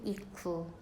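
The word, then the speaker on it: 行く: 읽을 땐 이쿠.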